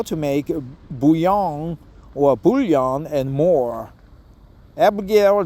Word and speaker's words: bouillon: uh definitely help understand buong or buan have two pronunciations even though it's just French French people would pronounce it buong broth ingredients interchangeably served